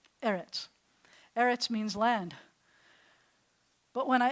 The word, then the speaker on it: eretz: So when you see those 2, you can sound it out and you can say rets, but I'm going to tell you that 100% of the time the accent's going to be on the first syllable. Most Hebrew words, the accent's on the last syllable. But when you have an the accent's going to shift to the first so it's eretz. It's not eretz.